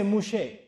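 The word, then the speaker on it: משה: does Musa mean and they don't say Musa in Hebrew they say mushe so mus they said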